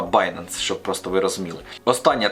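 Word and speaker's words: Binance: допомогою баййнанса До речі читається правильно не bінанс А bйanceс щоб просто ви розуміли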